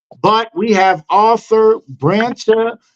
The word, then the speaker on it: Bracha: Bracha, as if it was a K. Okay. And as if there was no O. How is that for confusing? Very confusing. Okay. So it's Bracha.